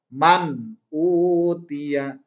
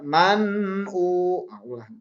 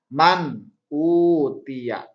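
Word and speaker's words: مَنْ أُوتِيَ: Contoh, man utia. Jangan dibaca man u. Gak boleh ribut tapi harus jelas. Man utia.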